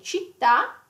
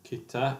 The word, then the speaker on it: città: So you wouldn't pronounce it kitta or centro. Yes. Yeah. Yeah. The C sound yes, nice as well. Yes. So it has to be città, you know città centro.